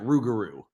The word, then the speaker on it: rougarou: It's the Loup-garou, but when Cajun people pronounce it, they pronounce it Rougarou.